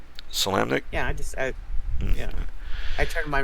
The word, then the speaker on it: Solamnic: Solanic? Because I know there's some occasions where the M or the N is silent, but I don't know if you pronounce it with this one for Solanic or Solamnic.